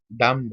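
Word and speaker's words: dumb: Touch, डम, अब डम बोलते हुए बी साइलेंट होता है तो बी को नहीं लिखेंगे, डम बोला जाता है, डम। ठीक है, बी साइलेंट, तो इसमें डी और एम ही लिखेंगे।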